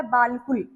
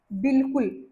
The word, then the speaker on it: बिल्कुल: वैसे ये लिखा हुआ है बालकुल। लेकिन हमने क्या पढ़ना है इसको? बिल्कुल। लाम को अलिफ को साइलेंट कर देना है। बे को पढ़ना है। लाम के साथ बिल और प को पेश कु और ल। बिल्कुल।